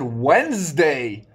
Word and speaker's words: Wednesday: I also said Wednesday. Where is the ED?